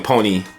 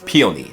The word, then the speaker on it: peony: Yes, I'm saying it correctly now cuz I was saying pony. I don't know why I was saying that, you know, but peony, that's how you pronounce it.